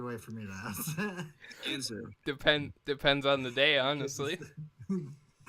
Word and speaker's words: Ginsuu: Ginsuu. Depends on the day, honestly. Today my G's soft and a little to the left. So it's a hard G. All right, that's appropriate. Like the Ginsuu knives.